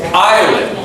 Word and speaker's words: island: just remember that it's island is just forget about the S it's there in the correct spelling but just in the pronunciation it's not there it's is land Island